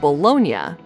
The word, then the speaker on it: bologna: just an instance of Americans replacing the ending I and A in Italian words with a Y. In much the same way that Italia becomes Italy, the pronunciation of the city of Bologna sounds as if it